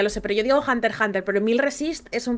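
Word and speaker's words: Hunter × Hunter: verdad Bueno e claro Yo diría que la x es muda porque por ejemplo cuando yo pronuncio Hunter Hunter yo digo Hunter Hunter Álvaro dice Hunter por Hunter creo es Hunter por Hunter yo digo Hunter Hunter pero la autora ha ha dicho que es Hunter Hunter me da igual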